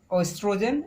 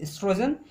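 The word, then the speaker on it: oestrogen: Third is estrogen, O is silent, estrogen and progesterone, okay.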